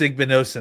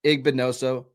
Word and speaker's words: Igbinosun: But tell us about Davison, and please pronounce the last name for me so I don't butcher it. I think it's Igbinosun. I hope so, because that's how we're going to say it. So Davison Igbinoso, Ohio State.